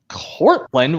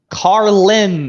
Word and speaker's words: Carlin: says narrator is George Courtland what the hell's your problem Daniel a it's George car Carlin as get your facts right whoever's whoever pronounced it wrong and now he said